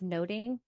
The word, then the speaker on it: nothing: to the motif of noting so in Shakespeare's time the nothing of the title would have been pronounced noting thus the play title